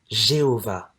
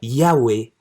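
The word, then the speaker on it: יהוה: Les premières études pour retrouver la prononciation du nom de Dieu ont donné le nom Jéhovah. Mais après des études plus poussées, la majorité des linguistes spécialistes dans le domaine optent aujourd'hui pour les prononciations Yahweh ou Yahvé.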